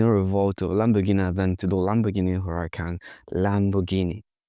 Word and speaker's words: Lamborghini: Lamborghini. But that's not how Italians pronounce it. They say Lamborghini. Lamborghini. You have to read the R and go with the Italian flu.